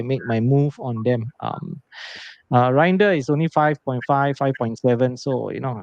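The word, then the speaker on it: Reijnders: pronounce his name. And Grinder. Reinder.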